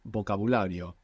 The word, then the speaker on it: vocabulario: Yeah, there is a grey area between V and B, so it will change between languages. Actually, a very nice example of this is the word for vocabulary. Vocabulary in Spanish is vocabulario. Vocabulario. It's spelled with a V.